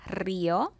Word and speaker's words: Río: Okay, so we have María, we have Río. Again, same thing. The accent is on the I.